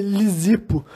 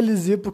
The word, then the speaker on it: Lisipo: que esse cara que é lisipo tô assumindo que é lisipo que se pronuncia é